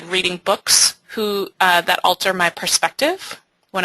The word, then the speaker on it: Book: to pronounce it, but it doesn't sound like it's pronounced book, but it actually means, it's pronounced book in Danish, and it means like reading a book.